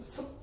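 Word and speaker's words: 葉: 인명 으로 사용 될 때 는 " 섭 " 이라 고 발음 합니다 .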